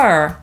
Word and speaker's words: fur: I to mogą być różne samogłoski, np. „ur” – tak jak np. w słowie „fur” /fɝː/ – „futro”, po brytyjsku /fɜ:/; „morderstwo” – „murder” /ˈmɜ:də/